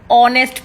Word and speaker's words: honest: The next word is honest person. Honest person. The H is silent, so the honest person.